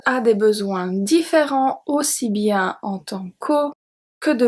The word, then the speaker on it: bien: Bien. Bien. So here the EN does not make the sound en. It's bien. I-E-N is pronounced ien.